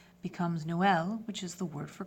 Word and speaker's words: Noël: troisième to the second vowel, you've added another syllable. So Noël, which is a boy's name, becomes Noël, which is the word for Christmas in French.